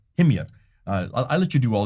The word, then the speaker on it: Himyar: Well, how do you pronounce it? Himyar. Himyar.